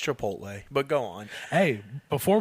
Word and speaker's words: Chipotle: want some chipot yeah no it's pronounced Chipotle but go on hey